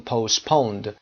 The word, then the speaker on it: postpone: The meeting این جلسه has been postponed. Present perfect هست passive یعنی به تعویق افتاده، عقب افتاده و برای یک زمان عقبتری یعنی دیرتری reschedule میشه. برنامه ریزی میشه. Postpone یادتون باشه تی تلفظ نکنیم. Postponed.